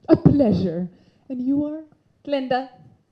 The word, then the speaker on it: Glinda: Glinda. The G is silent.